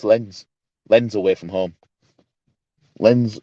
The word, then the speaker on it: Lens: Lens away from, or Lons, however you pronounce it. It's Lons.